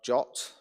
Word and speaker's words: JWT: you would parameterize configuration the JWT or jot as apparently it is pronounced allows you allows us